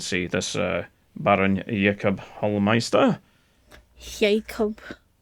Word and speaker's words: Jakob: Jacob. Just spelled like Jacob.